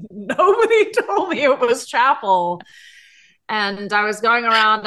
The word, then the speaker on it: Chappell: she's amazing but nobody told me it was chapel and I was going around announcing it to